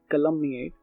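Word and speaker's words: calumniate: इन दोनों के प्रोनाउंसिएशन में काफी फर्क है। वो है कलमनिएट और ये है कल्मिनेट, राइट?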